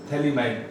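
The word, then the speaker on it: Phthalimide: थैलीमाइड, पीएच यहाँ पर silent है।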